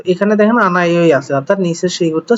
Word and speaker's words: 안아요: 1. 안아요. আনাইও, এখানে হওয়ার কথা ছিল কি আন হাইও, কিন্তু হলো আনাইও।